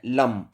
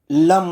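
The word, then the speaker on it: लं: बता देता हूं, क्योंकि खाली आपको ऐसे नहीं बोलना है लम, आपने से ओम की तरह थोड़ा उच्चारण करना है। ल आप एकदम से बोल देंगे और जो म की ध्वनि होगी उसे थोड़ा सा आपने खींचना है।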